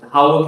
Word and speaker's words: Hawick: And for the record, Howick is spelled Hawick.